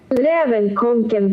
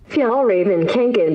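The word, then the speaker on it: Fjällräven Kånken: Since none of us know, let's hear how it's supposed to be said in Swedish. Rävenkonken backpack. This is how it's pronounced in English. Fjallraven Kanken backpack.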